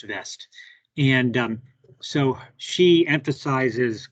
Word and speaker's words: West: there we go and vest will be w-w-e-s-t west but i think it's pronounced vest and um so she